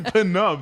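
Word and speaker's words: Pnub: No, it's literally Penub. That's how they pronounce it.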